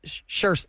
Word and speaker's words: Saoirse: It looks like Soirees. Soirees. Yeah. Yeah, and I've always had to look her up, and I've had to phonetically find a Google file to hear how it is. It's Saoirse.